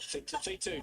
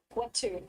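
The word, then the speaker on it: Whetu: Wow, you got it right. Feet 2, WH is an F.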